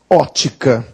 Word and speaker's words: ótica: ótica E aí está Ótica você pronunciava óptica Amanhã eu vou até a óptica comprar meus óculos não então este p é mudo se estiver mudo ele desapareceu Então hoje a gente diz Ótica aí Alguns leões Agnaldo